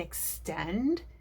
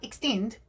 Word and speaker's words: extend: vowels when we talk when i say the word extend did you hear how i extended the second syllable and extend it's not extinct but extend we take more time on the stressed syllable in our word this is just one